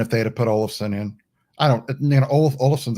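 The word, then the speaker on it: Asplund: olives allison oh wow how do you get all of sun out of that wow that's how it's pronounced a-s-p-l-u-n-d wow i need to get on my nhl in my media and listen to that one all of a sudden 99 minutes um no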